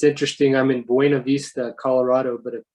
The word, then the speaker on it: Buena Vista: it's interesting i'm in buena vista colorado but apparently a lot of people up here call it buna vista i don't quite understand